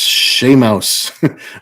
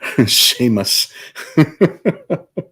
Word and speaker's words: Seamus: I have no choice Seamus pronounced Shea Mouse Sheamus ah in the